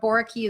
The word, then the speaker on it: Boericke: Boraki is Boericke.